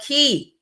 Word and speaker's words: Key: But Key, Out with Key, y'all check out with Key. I'm so happy to now be connected with Out with Key. And she says it's pronounced key like a key.